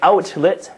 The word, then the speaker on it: outlet: Alright the pronunciation here everyone, it's very simple, however, when we do say "outlet" very quickly, we tend to drop the T here in the middle and at the end.